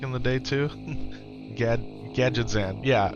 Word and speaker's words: Gadgetzan: Gadget Gadzan used to pronounce it Gadget Gadzan back in the day, too. Gad Gadgetzan.